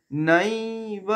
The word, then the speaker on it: নৈব: নৈব, নাইকে দীর্ঘ করব, আই নৈব বলবো না, নাই আই উচ্চারণ হবে, আই আর ই, আই।